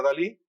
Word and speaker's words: DALL-E: Se pronuncia DALL-E.